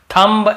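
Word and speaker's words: thumb: लेकिन ज्यादातर आप देखेंगे ये सब वर्ड्स में हम एम के बाद बी का उच्चारण नहीं करते हैं। कॉम, बॉम्ब, थम, डम, थम्ब ऐसे बोलते थे, याद रखिए।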